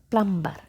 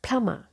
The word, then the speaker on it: plumber: it like plumber plumber and they emphasize this letter but this letter is silent so the correct pronunciation of this word is plama PL and in British pronunciation we keep letter r also silent letter B also silent so it is plum